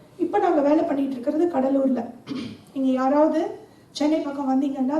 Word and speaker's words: கூடலூர்: செழிப்பா இருந்த ஒரு ஊரு அதோட பேர் கூடலூர் ஸ்பெல்லிங் பார்த்தீங்கன்னா சிடி ஏ எல் எல் ஏ தெலு தான் ஆனா பிரிட்டிஷ் வந்து அதை உச்சரிக்கும் போது கடலூர்னு சொன்னாங்க கூடலூர்னா என்ன அர்த்தம்னா கன்வெர்ஜென்ஸ்